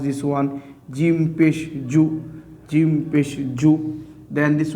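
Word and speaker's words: جُ: Now we have to pronounce this one Jim Pesh Ju, Jim Pesh Ju.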